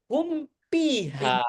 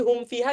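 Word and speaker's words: هم فيها: Bibir sama bibir humpiha. Betul enggak? HPha itu juga salah ya jamaah. HPha. Kalau baca humpiha itu ya secara maknya salah. Awas. Jadi humfiha gimana bacanya? Humfi. Humfi. Hum. Jangan dibaca apa? Humpi. Humpi. Jadi mim sama fa sekalian dari dua bibir.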